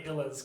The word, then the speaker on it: Illas: since they all keep that Illa sound at the end of their name, they're the Illas.